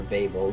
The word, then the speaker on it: Babel: tower built it at Babel or Babel depending on how you pronounce it that tower which